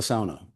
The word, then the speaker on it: sauna: We talked about the sauna, which is how you pronounce the word, please.